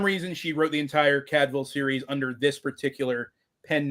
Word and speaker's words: Cadfael: we pick up with a monk named Brother Cadville. And yes, I looked it up. That is actually how you pronounce his name. It's not Cadfael or Cadfell.